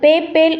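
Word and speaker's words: Babel: அது பிபிஎல் என்று வரும் பிபிஎல் ஹிப்ரூ மொழியில் அது பேப்பேல் என்று உச்சரிக்கப்படும் சேஷாக் என்ற புனித நகரம்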